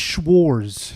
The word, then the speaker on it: Schwarz: it's just Schwarz. Schwarz. Oh, no T.